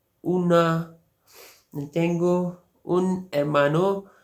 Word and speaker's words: hermano: Mother, madre, padre, father, padre, hermano, brother, hermano। इसमें देखिए एच जो है ये साइलेंट है, ओला में भी एच साइलेंट था तो hermano, hermana, sister, hermana, hijo,